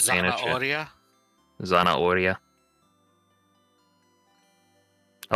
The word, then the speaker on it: zanahoria: According to Golux, or according to Sergeant, you don't pronounce the H in Spanish. Oh, you do not pronounce the H so in it's Spanish? Zanahoria?